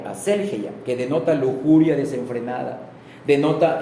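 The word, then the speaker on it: ἀσέλγεια: La palabra libertinaje, aquí la escribí igual, se traduce de la palabra griega aselgeia, acento en la primera E, aselgeia, que denota lujuria desenfrenada, denota exceso, disipación, sensualidad, insolencia y descaro.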